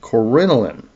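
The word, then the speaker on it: coronillin: Corinoline c o r o n i l l i n.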